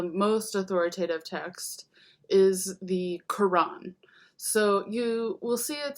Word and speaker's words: Quran: Um, so that's because in Arabic, as in Hebrew and other Semitic languages, there's kind of a glottal stop in between the two syllables. But basically, to spell it Quran, even without the apostrophe, is perfectly correct.